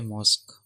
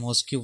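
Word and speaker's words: mosque: ठीक है, इसको मॉस्क पढ़ा जाता है, MOSQ। ठीक है, आपने पढ़ा था क्यू के साथ यू, ये इजाफी आता है, ये हमेशा आता है, और ई ये साइलेंट है, तो इसको पढ़ा जाता है मॉस्क। और बाज़ गलत जो इसको पढ़ते हैं मॉस्क्यू पढ़ते हैं, वो पूरा हिज्जा करते हैं, साइलेंट को नहीं हटाते, तो ये मॉस्क है।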